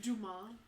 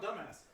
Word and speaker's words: Dumas: Dumas. Whatever. I want dumbass. Mr. Dumbass, Dumbass, and Dumbass. It's pronounced Dumas.